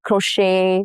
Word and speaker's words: crochet: Examples are ballet, buffet, crochet, all have the T's that are silent.